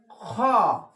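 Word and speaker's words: خاء: খ। খ উচ্চারণ হবে, বাংলা খ এর মতো, খ।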